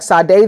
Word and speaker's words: Sade: The words sadist and Satanism are derived from his name, because his name is spelled S-A-D-E, like Sade, the singer, but it was pronounced Sade, de Sade.